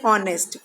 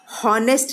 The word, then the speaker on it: honest: हम बोल रहे हैं ऑनेस्ट, ONEST, ऑनेस्ट. H हम नहीं बोल रहे हैं, हॉनेस्ट नहीं बोलते हैं, इसको ऑनेस्ट बोलते हैं. H को हम लिख रहे हैं पर H साइलेंट है.